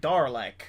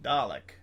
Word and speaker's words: Dalek: up to that point i've only ever heard like darlick it's a doralek it's like dalek dalek speak to me dalek